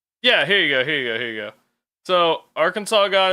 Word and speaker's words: Arkansas: the Acassas, or the Arkansas people, meaning people of the south wind or downstream people, with the final S being a French addition, leading to the modern spelling and the silent S pronunciation.